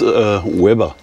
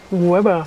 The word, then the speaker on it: Łeba: Man schreibt ja Leber, aber ausgesprochen wird es Weber. Weber.